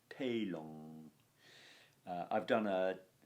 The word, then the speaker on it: telum: Telum, the Romans, remember, would have nasalized and internalized the M noise at the end of a word. Telung.